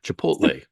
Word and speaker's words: Chipotle: rolling into you know Chipotle chipot I just mispronounced chip chipot I go there like once